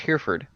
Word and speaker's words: Hereford: Because it's pronounced Hereford.